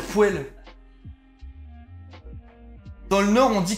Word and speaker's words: poêle: meuf qui disait les poêles. Ça m'a rendu fou. Non mais ça s'écrit poêle, mais c'est dégueulasse de dire poêle.